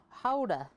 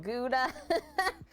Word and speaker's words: Gouda: Gouda is actually supposed to be pronounced Houda. The back of the throat. Oh no. Yeah, Americans can't do that sound well, so they pronounced it Gouda.